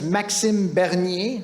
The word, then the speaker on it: Maxime Bernier: His real pronunciation of his name is Maxime Bernier, right? So get that right.